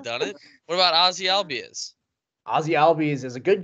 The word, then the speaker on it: Albies: Yeah, it's just Albies. Yeah. Albies. Just because he's Hispanic doesn't mean his last name needs to end in E-as.